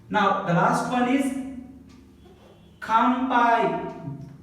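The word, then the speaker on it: 乾杯: Now the last one is kampai. Ka is in the beginning, ka. Before the P again N is there. So this N becomes ma.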